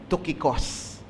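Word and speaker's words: Tychicus: Siguro pag english tyikos no? Pero ang Greek pronunciation po talaga niyan ay tokicos.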